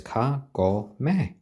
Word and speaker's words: Kagome: So Kagome is spelled with the Japanese spelling, which is really just 3 letters in katakana or hiragana. And so it's Kagome. So Kagome. Oh.